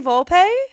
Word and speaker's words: Volpe: Anthony Volpe. Oh, that's the new Jeter. It's the new Jeter. Is that? Did I say his name? Anthony right? Volpe.